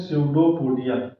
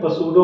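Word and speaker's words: pseudopodia: हैं, इसको बोलते हैं स्यूडोपोडिया। ये यहाँ पे पी साइलेंट है, पसूडो मत पढ़िएगा। स्यूडोपोडिया होता है, स्यूडो मतलब होता है फॉल्स, पोडिया मतलब अपेंडेजेस, हाथ पैर।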